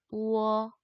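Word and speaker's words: 我: 이 발음이에요. 우어. 근데 얘 대신에 W를 쓰기로 했죠. 얘가 제일 앞에 나오거나 단독으로 쓸 때, 성모 없이 쓸 때. 그래서 이렇게 표기를 하고 우어, 우어 한 글자처럼 읽어주니까 우어, 나라는 뜻이에요.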